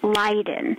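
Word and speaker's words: Leyden: le ye en is actually pronounced and correctly pronounced Leiden so the three brothers actually came here they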